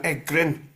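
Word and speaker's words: Egryn: this sort of church area clan and then egrin and that's yeah egrin e g r r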